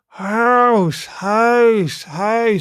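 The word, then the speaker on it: huis: Try making the English vowel sound as in house while tightly pursing your lips and pressing your tongue down. So if I do that right, house it sounds weird when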